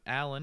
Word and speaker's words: Alin: Well, again, everybody, we are visiting with Alan. It's spelled ALIN.